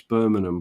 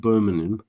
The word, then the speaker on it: Birmingham: you and many others could pronounce Birmingham properly not like a broom bur not like Burman Birming listen Birmingham right Birmingham Birmingham right but this is funny